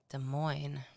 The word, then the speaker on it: Des Moines: it coming from uh des moines iowa des moines yeah that's fun to say isn't it des moines iowa des moines iowa especially because there's two s's in that des moines iowa anyway